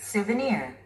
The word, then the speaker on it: souvenir: Souvenir. Souvenir. Souvenir. 삼음절의 스트레스가 오고 있군요.